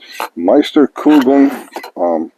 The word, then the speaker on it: Meisterkugeln: Well, I didn't mention we're shooting RWS Meisterkugeln. I believe that's the correct way to pronounce it. My friend Brian says it's right.